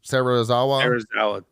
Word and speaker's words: Serizawa: Serizawa? Serizawa. Serizawa.